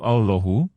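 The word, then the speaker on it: اللهُ: Adapun takbir, maka seyogialah pada pengucapan Allah itu dibaris depankan, yaitu Allahu, dengan suara ringan, tanpa bersangatan. Dan tidak masuk antara ha dan alif, yang menyerupakan u, yaitu suara panjang.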